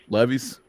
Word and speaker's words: Levis: But yes, Will Levis is going to throw at least 50 times.